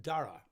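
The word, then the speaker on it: Darragh: Yes, baby boy, and they have called him Dara. So there we go, grandson Dara, and that, I think it's going to be D-A-R-R-A-G-H. Well, that would be the Irish way to spell it anyway.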